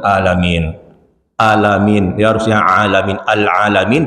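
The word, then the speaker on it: العالمين: Al-alamin dibaca al-alamin. Al-alamin itu artinya apa Pak? Sakit-sakitan Pak. Pakai hamzah. Kalau pakai ain Pak, baru semesta alam.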